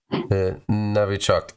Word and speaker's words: Novichok: Novichok. Novi. Like it's written with O in English, but it's Russian, so it's pronounced Navi.